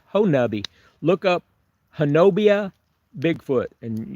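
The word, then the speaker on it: Honobia: Las Vegas wow yeah punching but hubbi it's pronounced hubbi but it's spelled ho n o b i a that's a Native American uh name hobia is is the way it s looks like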